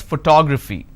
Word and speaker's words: photography: pronounce this as photograph here i pronounce this as photography clear what's the next